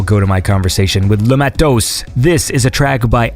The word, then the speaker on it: Matos: How do you say it? Because I say Matos, but like, is it Mato? No, you're close enough. It's Matos. Matos, like that?